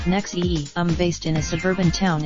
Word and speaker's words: NXIVM: Ronnie heir 58 co-founded in zve and pronounced nexium based in a suburban